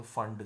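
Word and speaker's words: Pfund: और जब 5 to 4, 6 to 4 होगा तो ब्रैकेट सीरीज, और 6 to 5 होगा तो फंड सीरीज, पी साइलेंट होगा, फंड सीरीज.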